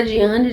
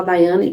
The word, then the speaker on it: Diane: Meu nome se escreve Diane, tá? Mas a minha família, o meu marido, meus filhos, meus parentes, tudo me chama de Daiane.